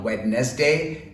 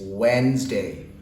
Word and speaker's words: Wednesday: what comes after Tuesday it's not wet nest day it's Wednesday so this word can